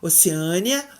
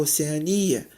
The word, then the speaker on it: Oceania: Hieroglifo ou hieróglifo, Oceânia ou Oceania, acrobata ou acróbata, projétil ou projetil, eletrodo ou elétrodo.